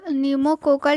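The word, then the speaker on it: pneumococcal: form होता है निमो निमो कोकल ठीक है पी से स्टार्ट होता है पी जो है इसमें साइलेंट होता है तो निमो कोकल पी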